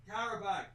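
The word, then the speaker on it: Qarabağ: What is it pronounced again? Qarabag.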